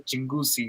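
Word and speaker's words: Chinguacousy: all that but it's actually spelled as like pronounced as Chinguzi you know that's why we are still stuck at pronouncing Toronto properly we say Toronto Toronto people call Toronto.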